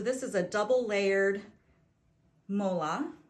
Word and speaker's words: mola: So this is a double layered mola. I think I've also heard people pronounce it mula, but it's spelled M-O-L-A.